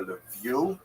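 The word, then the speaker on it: Lviv: They're dominated by the city of Leviv or Levu as it would be pronounced by people in Lichna.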